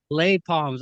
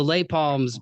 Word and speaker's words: Les Palms: Is it Les Palms? Am I Late, late late palms. lay palms?